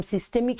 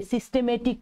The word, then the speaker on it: সিস্টেমিক: আমরা দেখলাম সিস্টেমিক সংবহন। একটি কথা মনে রাখবে, তোমরা অনেকেই সিস্টেমিক না বলে সিস্টেমেটিক বলো, দ্যাট ইজ রং, ভুল।